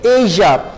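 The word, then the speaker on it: ella: ओ या फिर एया, आप इसे प्रोनाउंस करेंगे एया.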